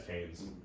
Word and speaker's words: Keynes: Milton Keynes? I don't know how to pronounce it. it. Yeah, it's Keynes. Like John Maynard Keynes.